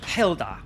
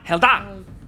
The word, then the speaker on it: Hela: thank thank you uh helda it's helda Hela oh I'm going to emphasize the laugh at that H H Hela if you say my name with anything less I don't talk to